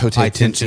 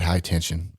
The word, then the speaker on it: Haute Tension: Yeah, because I mean, Like high Haute tension. Tension. Yeah, high tension. That was a fantastic movie. I don't call it high tension. It's Haute Tension. If I'm pronouncing that right.